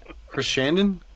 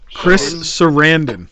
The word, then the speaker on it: Sarandon: fruit it was Christian how you say his name Chris Chris Shannon sure sure Chris Sarandon Sarandon okay so it was Chris Sarandon idea to have